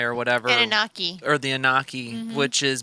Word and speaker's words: Anunnaki: blood type, you are a descendant of the Anunkai or whatever. Anunnaki.